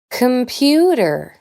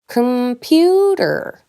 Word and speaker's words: computer: Remember that this “e” is silent, which is not the same as a schwa. “Computer” has as two schwas. I don’t say “cOmputEr”, but “”c’mput’r”.